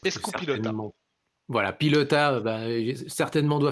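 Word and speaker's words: euskal pilota: basque donc poelot basque ça se dit escou pilota alors je prononce super mal je pense hein j'ai j'ai pas du tout l'accent basque donc c'est escou pilota voilà pilota bah certainement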